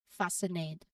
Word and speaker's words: fascinate: So in these cases, the C is present in the spelling for historical reasons, but it's not pronounced. So this rule helps streamline your pronunciation for these common words. So let's practice saying these words aloud, making sure that C stays silent.